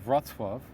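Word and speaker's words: Wrocław: say good dance if you ask people from vratsworth which is spelled w-r-o-c-l-a-w uh if you ask people from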